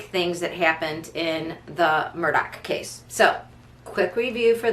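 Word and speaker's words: Murdaugh: and murdoch um or if you're from south carolina the uh murder um although it's spelled like murdah case um again and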